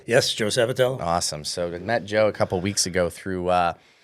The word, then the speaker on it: Sabatello: Sabatello, right? Yes, Did sir. I say it right? Yes, Joe Sabatello.